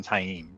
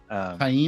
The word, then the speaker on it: Taim: Okay, sorry, I know that's not related to this chapter, but it's just low gain is so different from Taim, right?